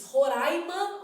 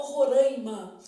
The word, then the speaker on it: Roraima: Vou pegar um caso que é um caso assim de bastante polêmica, que é como se diz Roraima ou Roraima. Gente, as duas pronúncias são validadas porque na verdade quando